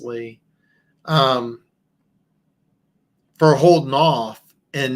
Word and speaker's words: Leigh: I think it's pronounced Lee.